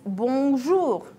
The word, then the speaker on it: bonjour: The most usual greeting is bonjour. Try to pronounce it correctly. The sound should go through your nose.